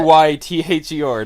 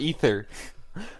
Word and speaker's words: Aether: Ayther, not Ether.